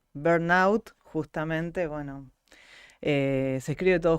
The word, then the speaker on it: burnout: dudas y Qué es digamos que bueno se pronuncia burnout justamente bueno se escribe todo junto obviamente y